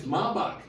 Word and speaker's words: Maybach: He even mispronounced it on purpose because he had to tell. It's so hard to find something that rhymes with You know how long Maybach been out? It's Maybach.